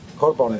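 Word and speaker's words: קרבן: Korban. Das schreibt sich Kofresh-B-M. Also das beginnt erst einmal mit Kofresh, das ist eine affine Berechnung. Kareb N, Korban wird es ausgesprochen bei den Juden.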